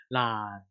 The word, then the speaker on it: 爛: And then this is remember we don't pronounce the N sound. So 爛. 爛. 爛. 爛. We don't pronounce it as an N. So we pronounce it as an L.